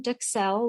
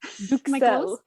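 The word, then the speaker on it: duxelles: So you've got your mushroom duxelle, which we talked about. I looked up the pronunciation on duxelle. Duxelle. A U in French has a very ooh.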